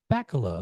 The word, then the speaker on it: Bakkila: Yeah, I guess I never asked you how to pronounce it. Bakkila? Bakkila. Okay, just like it reads.